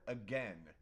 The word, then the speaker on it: again: The word again. We say the word again as again, but it's not. It's a gain.